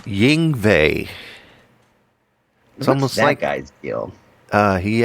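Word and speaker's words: Yngwie: pushi no like y it's like Y in yve malmstein yes how do you say that again Ying that guy's deal uh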